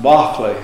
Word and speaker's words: Berkeley: his name is pronounced Bach play the way the English would pronounce at Whitman systematically mr.